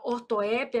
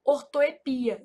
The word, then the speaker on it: ortoépia: Essa palavra ortoépia, ela é um caso de variante. Então, ela também pode ser pronunciada assim, ó, ortoepia, sem acento.